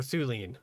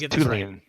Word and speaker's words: Tulane: Is it Tulane or Thulane? It's Tulane. As in not too fat, too lean.